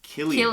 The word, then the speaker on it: Cillian: And so I was like, Cillian? Cillian Murphy, right? Yeah. It's Killian.